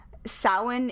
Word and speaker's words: Samhain: i should just say samhain is the one that is spelled s-a-m-h-a-i-n if you were wondering it's not safe because um no because uh gaelic yeah um i i